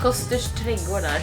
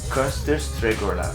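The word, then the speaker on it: Kosters Trädgårdar: How do you pronounce it? Koster's Trädgårdar. Can you hold on and try? Yeah. Koster's Trädgårdar.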